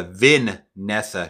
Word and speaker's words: Vanessa: It's Vanessa, not Vanessa, Vin-nessa Shaw.